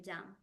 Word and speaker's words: jam: The difference on the pronunciation is jam, like with a Y, and ham. Jam, the jelly, marmalade. Ham, like the hamburger.